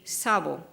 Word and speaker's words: SAWBO: our program so far suavo and i will pronounce Wabo but other people say sabah so suavo that's 43